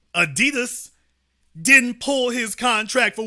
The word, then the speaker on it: Adidas: and remind you again Adidas the German pronunciation Adidas didn't pull his contract